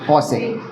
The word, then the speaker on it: cosec: सेक, और यहाँ पे आ जाएगा कॉसेक, ठीक है।